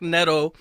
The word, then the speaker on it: Neto: It'd be real Neidato if you pronounced it Neidato. Zach Neto.